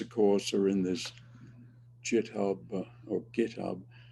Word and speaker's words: GitHub: course are in this jiub or GitHub never know how to pronounce that I guess it's GitHub because the G in English is normally like that anyway um uh all